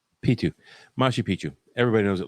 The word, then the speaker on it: Machu Picchu: is not it's a silent C, so it's Machu Picchu.